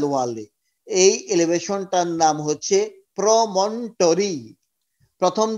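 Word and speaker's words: promontory: In fact MBBS pass করার পরে গিয়ে শিখলাম যে আসলে প্রমন্টরি হবে এটার উচ্চারণ, ওটা নাই, প্রমনোটরি না, প্রমন্টরি।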